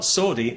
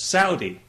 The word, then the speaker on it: Saudi: have said to me you know you're you're pronouncing that wrong it's not sordi it's Saudi well okay fair enough I'm happy to pronounce